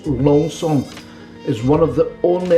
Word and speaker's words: Lanson: with champagne but actually it's delicious well lansing lonson we would pronounce but the proper pronunciators long song is one of the only houses and when